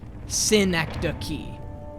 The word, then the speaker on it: Synecdoche: But the film is pronounced Synecdoche. And not like the town.